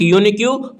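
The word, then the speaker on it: unique: ही is blank यूनिक्यू person. यूनिक्यूब बोलेंगे तो हिंदी में क्या? य से स्टार्ट हो रहा है।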